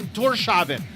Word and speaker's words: Tórshavn: They pronounce like the way it's pronounced is like Tórshavn.